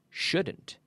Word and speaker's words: shouldn't: wood but wood wood so wouldn't couldn't shouldn't okay in all these cases the L is silent okay okay so repeat